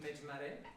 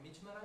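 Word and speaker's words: مجمره: The treatise is entitled Mejmare, or Mijmara if you want to stick to the Arabic pronunciation, but it's written in Persian, which means incense burner.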